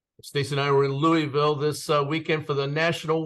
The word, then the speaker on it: Louisville: criticize me I know it's not Louisville it's Louisville right is that how you say it yes like you have marbles in your mouth I love it awesome